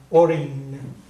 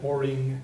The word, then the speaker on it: ag éirí: of, it's similar to an ng sound in English, but you don't quite go as far as the g. It's just like orin. But if you want to, if it's easier for you to pronounce it like oring, that's fine too. I don't think anybody would really notice the difference.